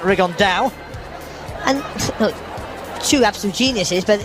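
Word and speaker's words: Rigondeaux: T's talked about fighting riondo or as he's correctly pronounced with the uh Spanish accent Ron da and two absolute Geniuses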